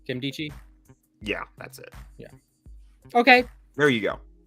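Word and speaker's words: Nkemdiche: tackle robert i don't even know how to pronounce his name kim deichi yeah that's it yeah okay there you go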